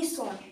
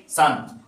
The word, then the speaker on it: son: where is দ্যা মানি সন সান উচ্চারণ কি হবে সান আমরা সূর্যকে কি বলি সান না ওই পুত্রকেও আমরা বলবো সান ঠিক আছে উচ্চারণ করি